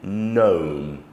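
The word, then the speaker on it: gnome: there is one but another would be gome g n silent G uh the word is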